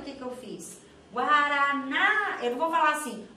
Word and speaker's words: guaraná: Você Chama para mim então ela é a sílaba forte então chamei ó guaraná Olha aí o que que eu fiz guaraná eu vou falar assim o Paraná é assim